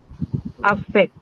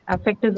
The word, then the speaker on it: affect: next one is effect affect s yeah it can be a verb and hence it's going to be stressed on second syllables affects her the first